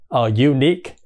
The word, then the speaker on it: unique: hai âm là và Ni thì cái âm đầu tiên cũng là gi gi đúng không Rồi mới u thành ra bắt đầu bằng một phụ âm cons đúng không thành ra là cái Ờ M từ nó là nh unique Không ai nói là un unique nha rồi Tiếp theo